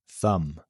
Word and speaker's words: thumb: of words like climb, thumb, lamb, numbum, bomb. The rule here, when a word ends with MB, the B is usually silent.